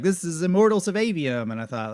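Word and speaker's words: Aveum: this is Immortals of avium and I thought that's two people in a row who have said avium so I guess I've been saying it wrong in my head it doesn't matter anyway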